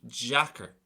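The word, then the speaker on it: deacair: difficult in that case it's on a slend v an e so it's going to be Jacker Jacker so it's almost like a j pronunciation A slurred soft version because of the type of vowel that's on the letter D same thing then for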